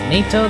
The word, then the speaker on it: NATO: I always pronounce it natto. I think the official pronunciation is NATO though?